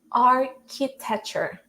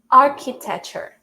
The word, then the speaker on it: architecture: But in this word specifically, it's pronounced as k, like the sound, the sound of the letter C, all right? So architecture, architecture.